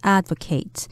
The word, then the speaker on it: advocate: as a side note the word advocate also has a verb form but it would be pronounced advocate so a person could